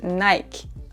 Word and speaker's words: Nike: En effet, en français, on ne prononce pas le E à la fin du mot. Donc, il est silencieux. Nike. C'est comme s'il n'y avait que 3 lettres. N-I-K. Nike.